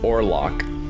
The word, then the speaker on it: Orlog: The name Orlock is likely derived from the archaic German word Orlog, itself pronounced Orlock, which means war.